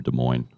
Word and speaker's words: Des Moines: Yeah, Christine, hopefully nobody's here from Des Moines. They hate it when you pronounce the S.